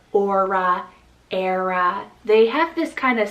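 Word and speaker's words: Éire: name we have the name era spell e-i-r-e era so this one means from the west island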